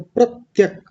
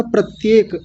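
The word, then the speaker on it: प्रत्यक्: अब इसके आगे देखिए प्रत्यक, प्रत्यक, जैसे अक्षय ने बोला था प्रत्येक, वो गलत है, प्रत्येक नहीं बोलेंगे, प्रत्यक।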